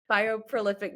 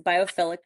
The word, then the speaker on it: biophilic: Bioprolific design. Did I say it right? So close. Biophilic design.